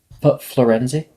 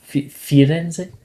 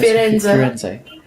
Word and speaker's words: Firenze: Well, right now, I've been talking to Professor Florenzi. Firenze, I think it's pronounced. I've been talking to Professor Firenze.